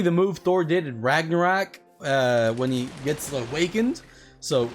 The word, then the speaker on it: Ragnarok: It's basically the move Thor did in Ragnarok when he gets awakened. So Ragnarok.